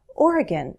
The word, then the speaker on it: Oregon: the beaver state I think I usually say Oregon but sometimes I may say Oregon people may think that one variation is right and another is wrong but be prepared to hear both go to a tool like you glish listen to about a dozen speakers and you'll start to hear a preference Oregon is probably what most American English speakers say Salem Oregon Sacramento California